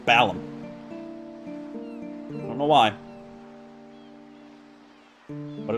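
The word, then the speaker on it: Balamb: and pop back in bone balance i actually recently learned it's pronounced balum i don't know why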